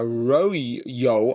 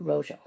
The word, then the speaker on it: rojo: which was turns out to be a royo. I presume that's how you pronounce it. Rojo.